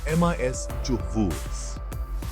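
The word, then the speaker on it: mischievous: मिस्चीवस, पहले शब्दांश पर जोर दें, एमआईएस चूहवूस। कल्पना करें कि शब्द की शुरुआत में एक छोटा सा उछाल है।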